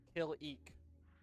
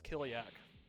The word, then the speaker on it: Kalik: Oh, Kalik. Kill-eek. Killy. I put the pronunciation every time I type it in a blog post. For that reason exactly. Because I thought it was Kiliak for some reason.